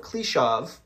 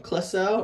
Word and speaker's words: Kliszow: Kliszow? I'm trying to pronounce it the Polish way. Kliszow, which I believe is how you say that.